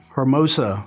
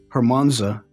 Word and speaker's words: Hermosa: This is not a medical term, but this is one that's always mispronounced, and that's my last name, Hermosa or Hermosa. It's not Hermonza. It's not. And it's certainly not Mimosa.